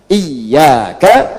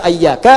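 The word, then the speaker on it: إياك: salat dan bacaan Al-Qur'an dibacanya pakai kasrah. Iyaka, iyaka, iyaka. Jangan dibaca ayyaka, jangan dibaca hayyaka dalam salat, ya kan? Dan jangan dibaca iyaka. Dibacanya apa? Iyaka. Ayo baca iyaka.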